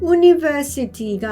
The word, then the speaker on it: university: 얘는 university 이렇게 할 때 u로 시작하니까 모음이잖아 하지만 발음을 해보면 university가 아니라 university 이렇게 합니다.